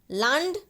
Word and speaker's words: Land: Land. La. La sound. Okay. Land. Don't say land. It will become English and it means the place.